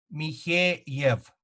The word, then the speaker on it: Mikheev: Mikheev, Mikheev, Mikheev.